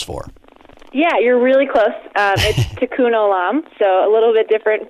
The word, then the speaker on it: tikkun olam: tikkun olam stands for yeah you're really close tikkun olam so a little bit different first word but